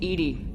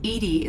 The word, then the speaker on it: EDI: Why are you named EDI? EDI is the phonetic pronunciation of EDI. That is an acronym for Enhanced Defense Intelligence.